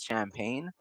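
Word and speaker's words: Champagnie: His name is it's when you see it it's champagne but it's spelled champagney or something like that.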